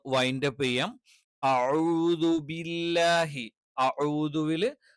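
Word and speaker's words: أَعُوذُ: അഊദുവില് അഊദു എന്നാണ് കറക്റ്റ് ആയിട്ടുള്ളത്. അഊദു അതുപോലെയുള്ള എല്ലാം തെറ്റാണ്.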